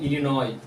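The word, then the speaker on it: Illinois: प साइलेंट है डी बी आर आई S silent है य पे इनोई I double L आई एन ओ आई इन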